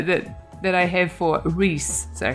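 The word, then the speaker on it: Ries: that I have four Reese sorry her name is Reese apparently and not arias I think my way is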